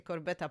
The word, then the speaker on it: Corbet: w reżyserii brady'ego corbe nie czyta się corbeta podobno tylko jednak corbe na podstawie scenariusza który